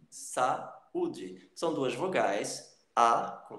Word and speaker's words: saúde: Então você separa isso daí e pronuncia, inclusive, de uma forma meio que separada. Saúde.